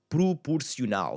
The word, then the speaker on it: proporcional: Proporcional. If I just started putting words here that had a first, so proportional, proporcional. And have that U sound again.